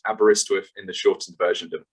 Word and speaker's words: Aberystwyth: uk i'll then say why students should choose aberystwyth university what what can we offer you to